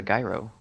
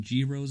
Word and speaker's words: gyro: many how many of my classmates mispronounce it it's anybody want to go get a guy room what the is a guy row you know look guy